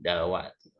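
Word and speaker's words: دلوقتي: Zalnya berubah menjadi dal. Karena zal dalam amiyah Mesir menjadi dal. Qaf dalam amiyah Mesir menjadi hamzah. Haknya dibuang. Maka menjadi seperti ini. Dalwati. Ya, dalwati. Ti-nya dibaca. Atau tidak.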